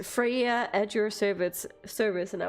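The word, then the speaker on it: Freja: But in Danish, we don't say that. I've at least never heard anyone pronounce it that way, especially when it's spelled with a J, like with a J. But she herself says Freya, and that annoys the shit out of me. It's Freya. it's not Freya.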